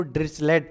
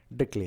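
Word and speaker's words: Dirichlet: देखो इसको ड्रिचलेट पढ़ते हैं जनरली, मोस्टली हमने देखा स्टूडेंट या जो भी टीचर है इसको ड्रिचलेट पढ़ते हैं, बट एक्चुअल प्रोनाउंसिएशन इसका ड्रिकले है।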